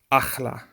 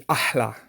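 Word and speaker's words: אחלה: And one last example, in slang, people say achla. Achla means great or awesome, wonderful, whatever. It actually should be ahla, ahla, because that is what it is in Arabic.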